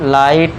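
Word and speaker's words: light: एल आई टी तक पढ़ेंगे। तो इसे पढ़ेंगे हम लाइट। इधर इसमें भी जी एच साइलेंट रहेगा।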